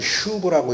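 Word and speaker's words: שוב: 에 여러분 히브리어로 슈브라고 읽습니다.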